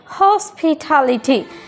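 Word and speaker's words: hospitality: টি শুরুতেই টি আছে, এই টি এর উচ্চারণ ট না হয়ে কী হয়ে যাচ্ছে ঠ, বিকজ এটাও স্টেজ সিলেবলের একটা অংশ।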